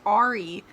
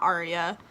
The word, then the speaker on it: Ari: wrong this entire time her name is Ari not Arya I'm very annoyed with